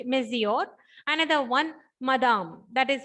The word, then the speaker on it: monsieur: Okay, so this is one term, that is monsieur. That is the pronunciation in French, monsieur.